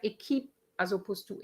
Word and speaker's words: équipe: And word like équipe as opposed to equip.